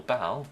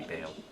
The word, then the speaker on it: Baal: Worst comes to worst, I can always use Fisher on Baal, or Bale. I think the pronunciation's meant to be Bale.